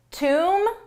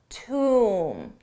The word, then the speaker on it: tomb: Tomb bomb. So there's two things to notice the bees are silent in both, you don't pronounce it but the vowel is different. Umm tomb, bom, bom they found a bomb in the